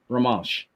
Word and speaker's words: Romansh: Try pronouncing that, Tony. Romanish. I think C in there. Romansh.